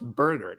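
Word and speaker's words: Bergert: guys like to say, his last name is pronounced Burger, actually.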